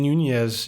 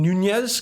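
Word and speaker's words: Núñez: Shout out to Nelson Furman Nunez. You like that? You like how I pronounced that double N, Nunez? Because I know it's not Nunez. It's with the little squiggly line above the N.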